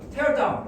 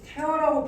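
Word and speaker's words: tear: 쉼터를 쉽게 또 지었다가 테어다운 찢어버릴 수도 있다고이 티어는 뭐 티어하고 스펠링이 똑같죠 티어는 뭔 뜻이야 눈물이죠 그럼 눈물로 집을 짓다 이게 태어라고 발음을 하면 동사가 돼요.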